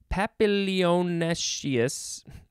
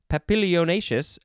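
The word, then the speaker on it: papilionaceous: legume family having showy papillonashius that's not how you say it papillonacious flowers similar in form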